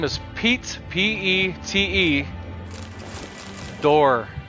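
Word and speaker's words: Dorr: His name is Pete, P-E-T-E, Door. Like the door, like open the door, but it's spelled, instead of D-O-O-R, it's D-O-R-R.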